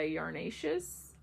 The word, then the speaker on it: Yarnaceous: The name of this sock set is called Petrified Forest by Yarnaceous Fibers.